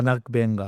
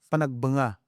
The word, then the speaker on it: Panagbenga: Panagbenga. Oo. Panagbenga. Pag agag sa mga Pilipino ganon iung pag-pronounce panagbenga. Pero agag yung talagang katutubong pagpronounce panagbanga.